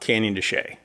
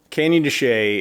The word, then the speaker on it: Canyon de Chelly: going to talk about Canyon dechay spelled like this but pronounced like that anyway candy Shea is a area by